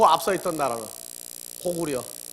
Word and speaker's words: 고구려: 그리고 그 앞서 있던 나라는 고구려. 근데 그 려가 아니에요, 원래. 고구리, 고리예요, 원래.